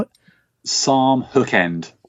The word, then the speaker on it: Sarm: Now, Psalm Hook End was a beautiful studio in the UK.